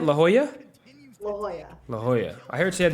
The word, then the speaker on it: La Jolla: what sort of so I butchered it earlier I said legala right yeah how do you say it La Jolla La Jolla I heard